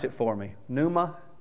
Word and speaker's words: pneuma: pronounce it for me pneuma how is it pronounced pneuma you pronounce the p see i'm not used